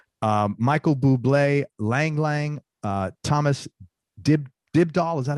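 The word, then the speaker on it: Dybdahl: Michael Buble, Lang Lang, Thomas Dibdahl. Is that how you pronounce it?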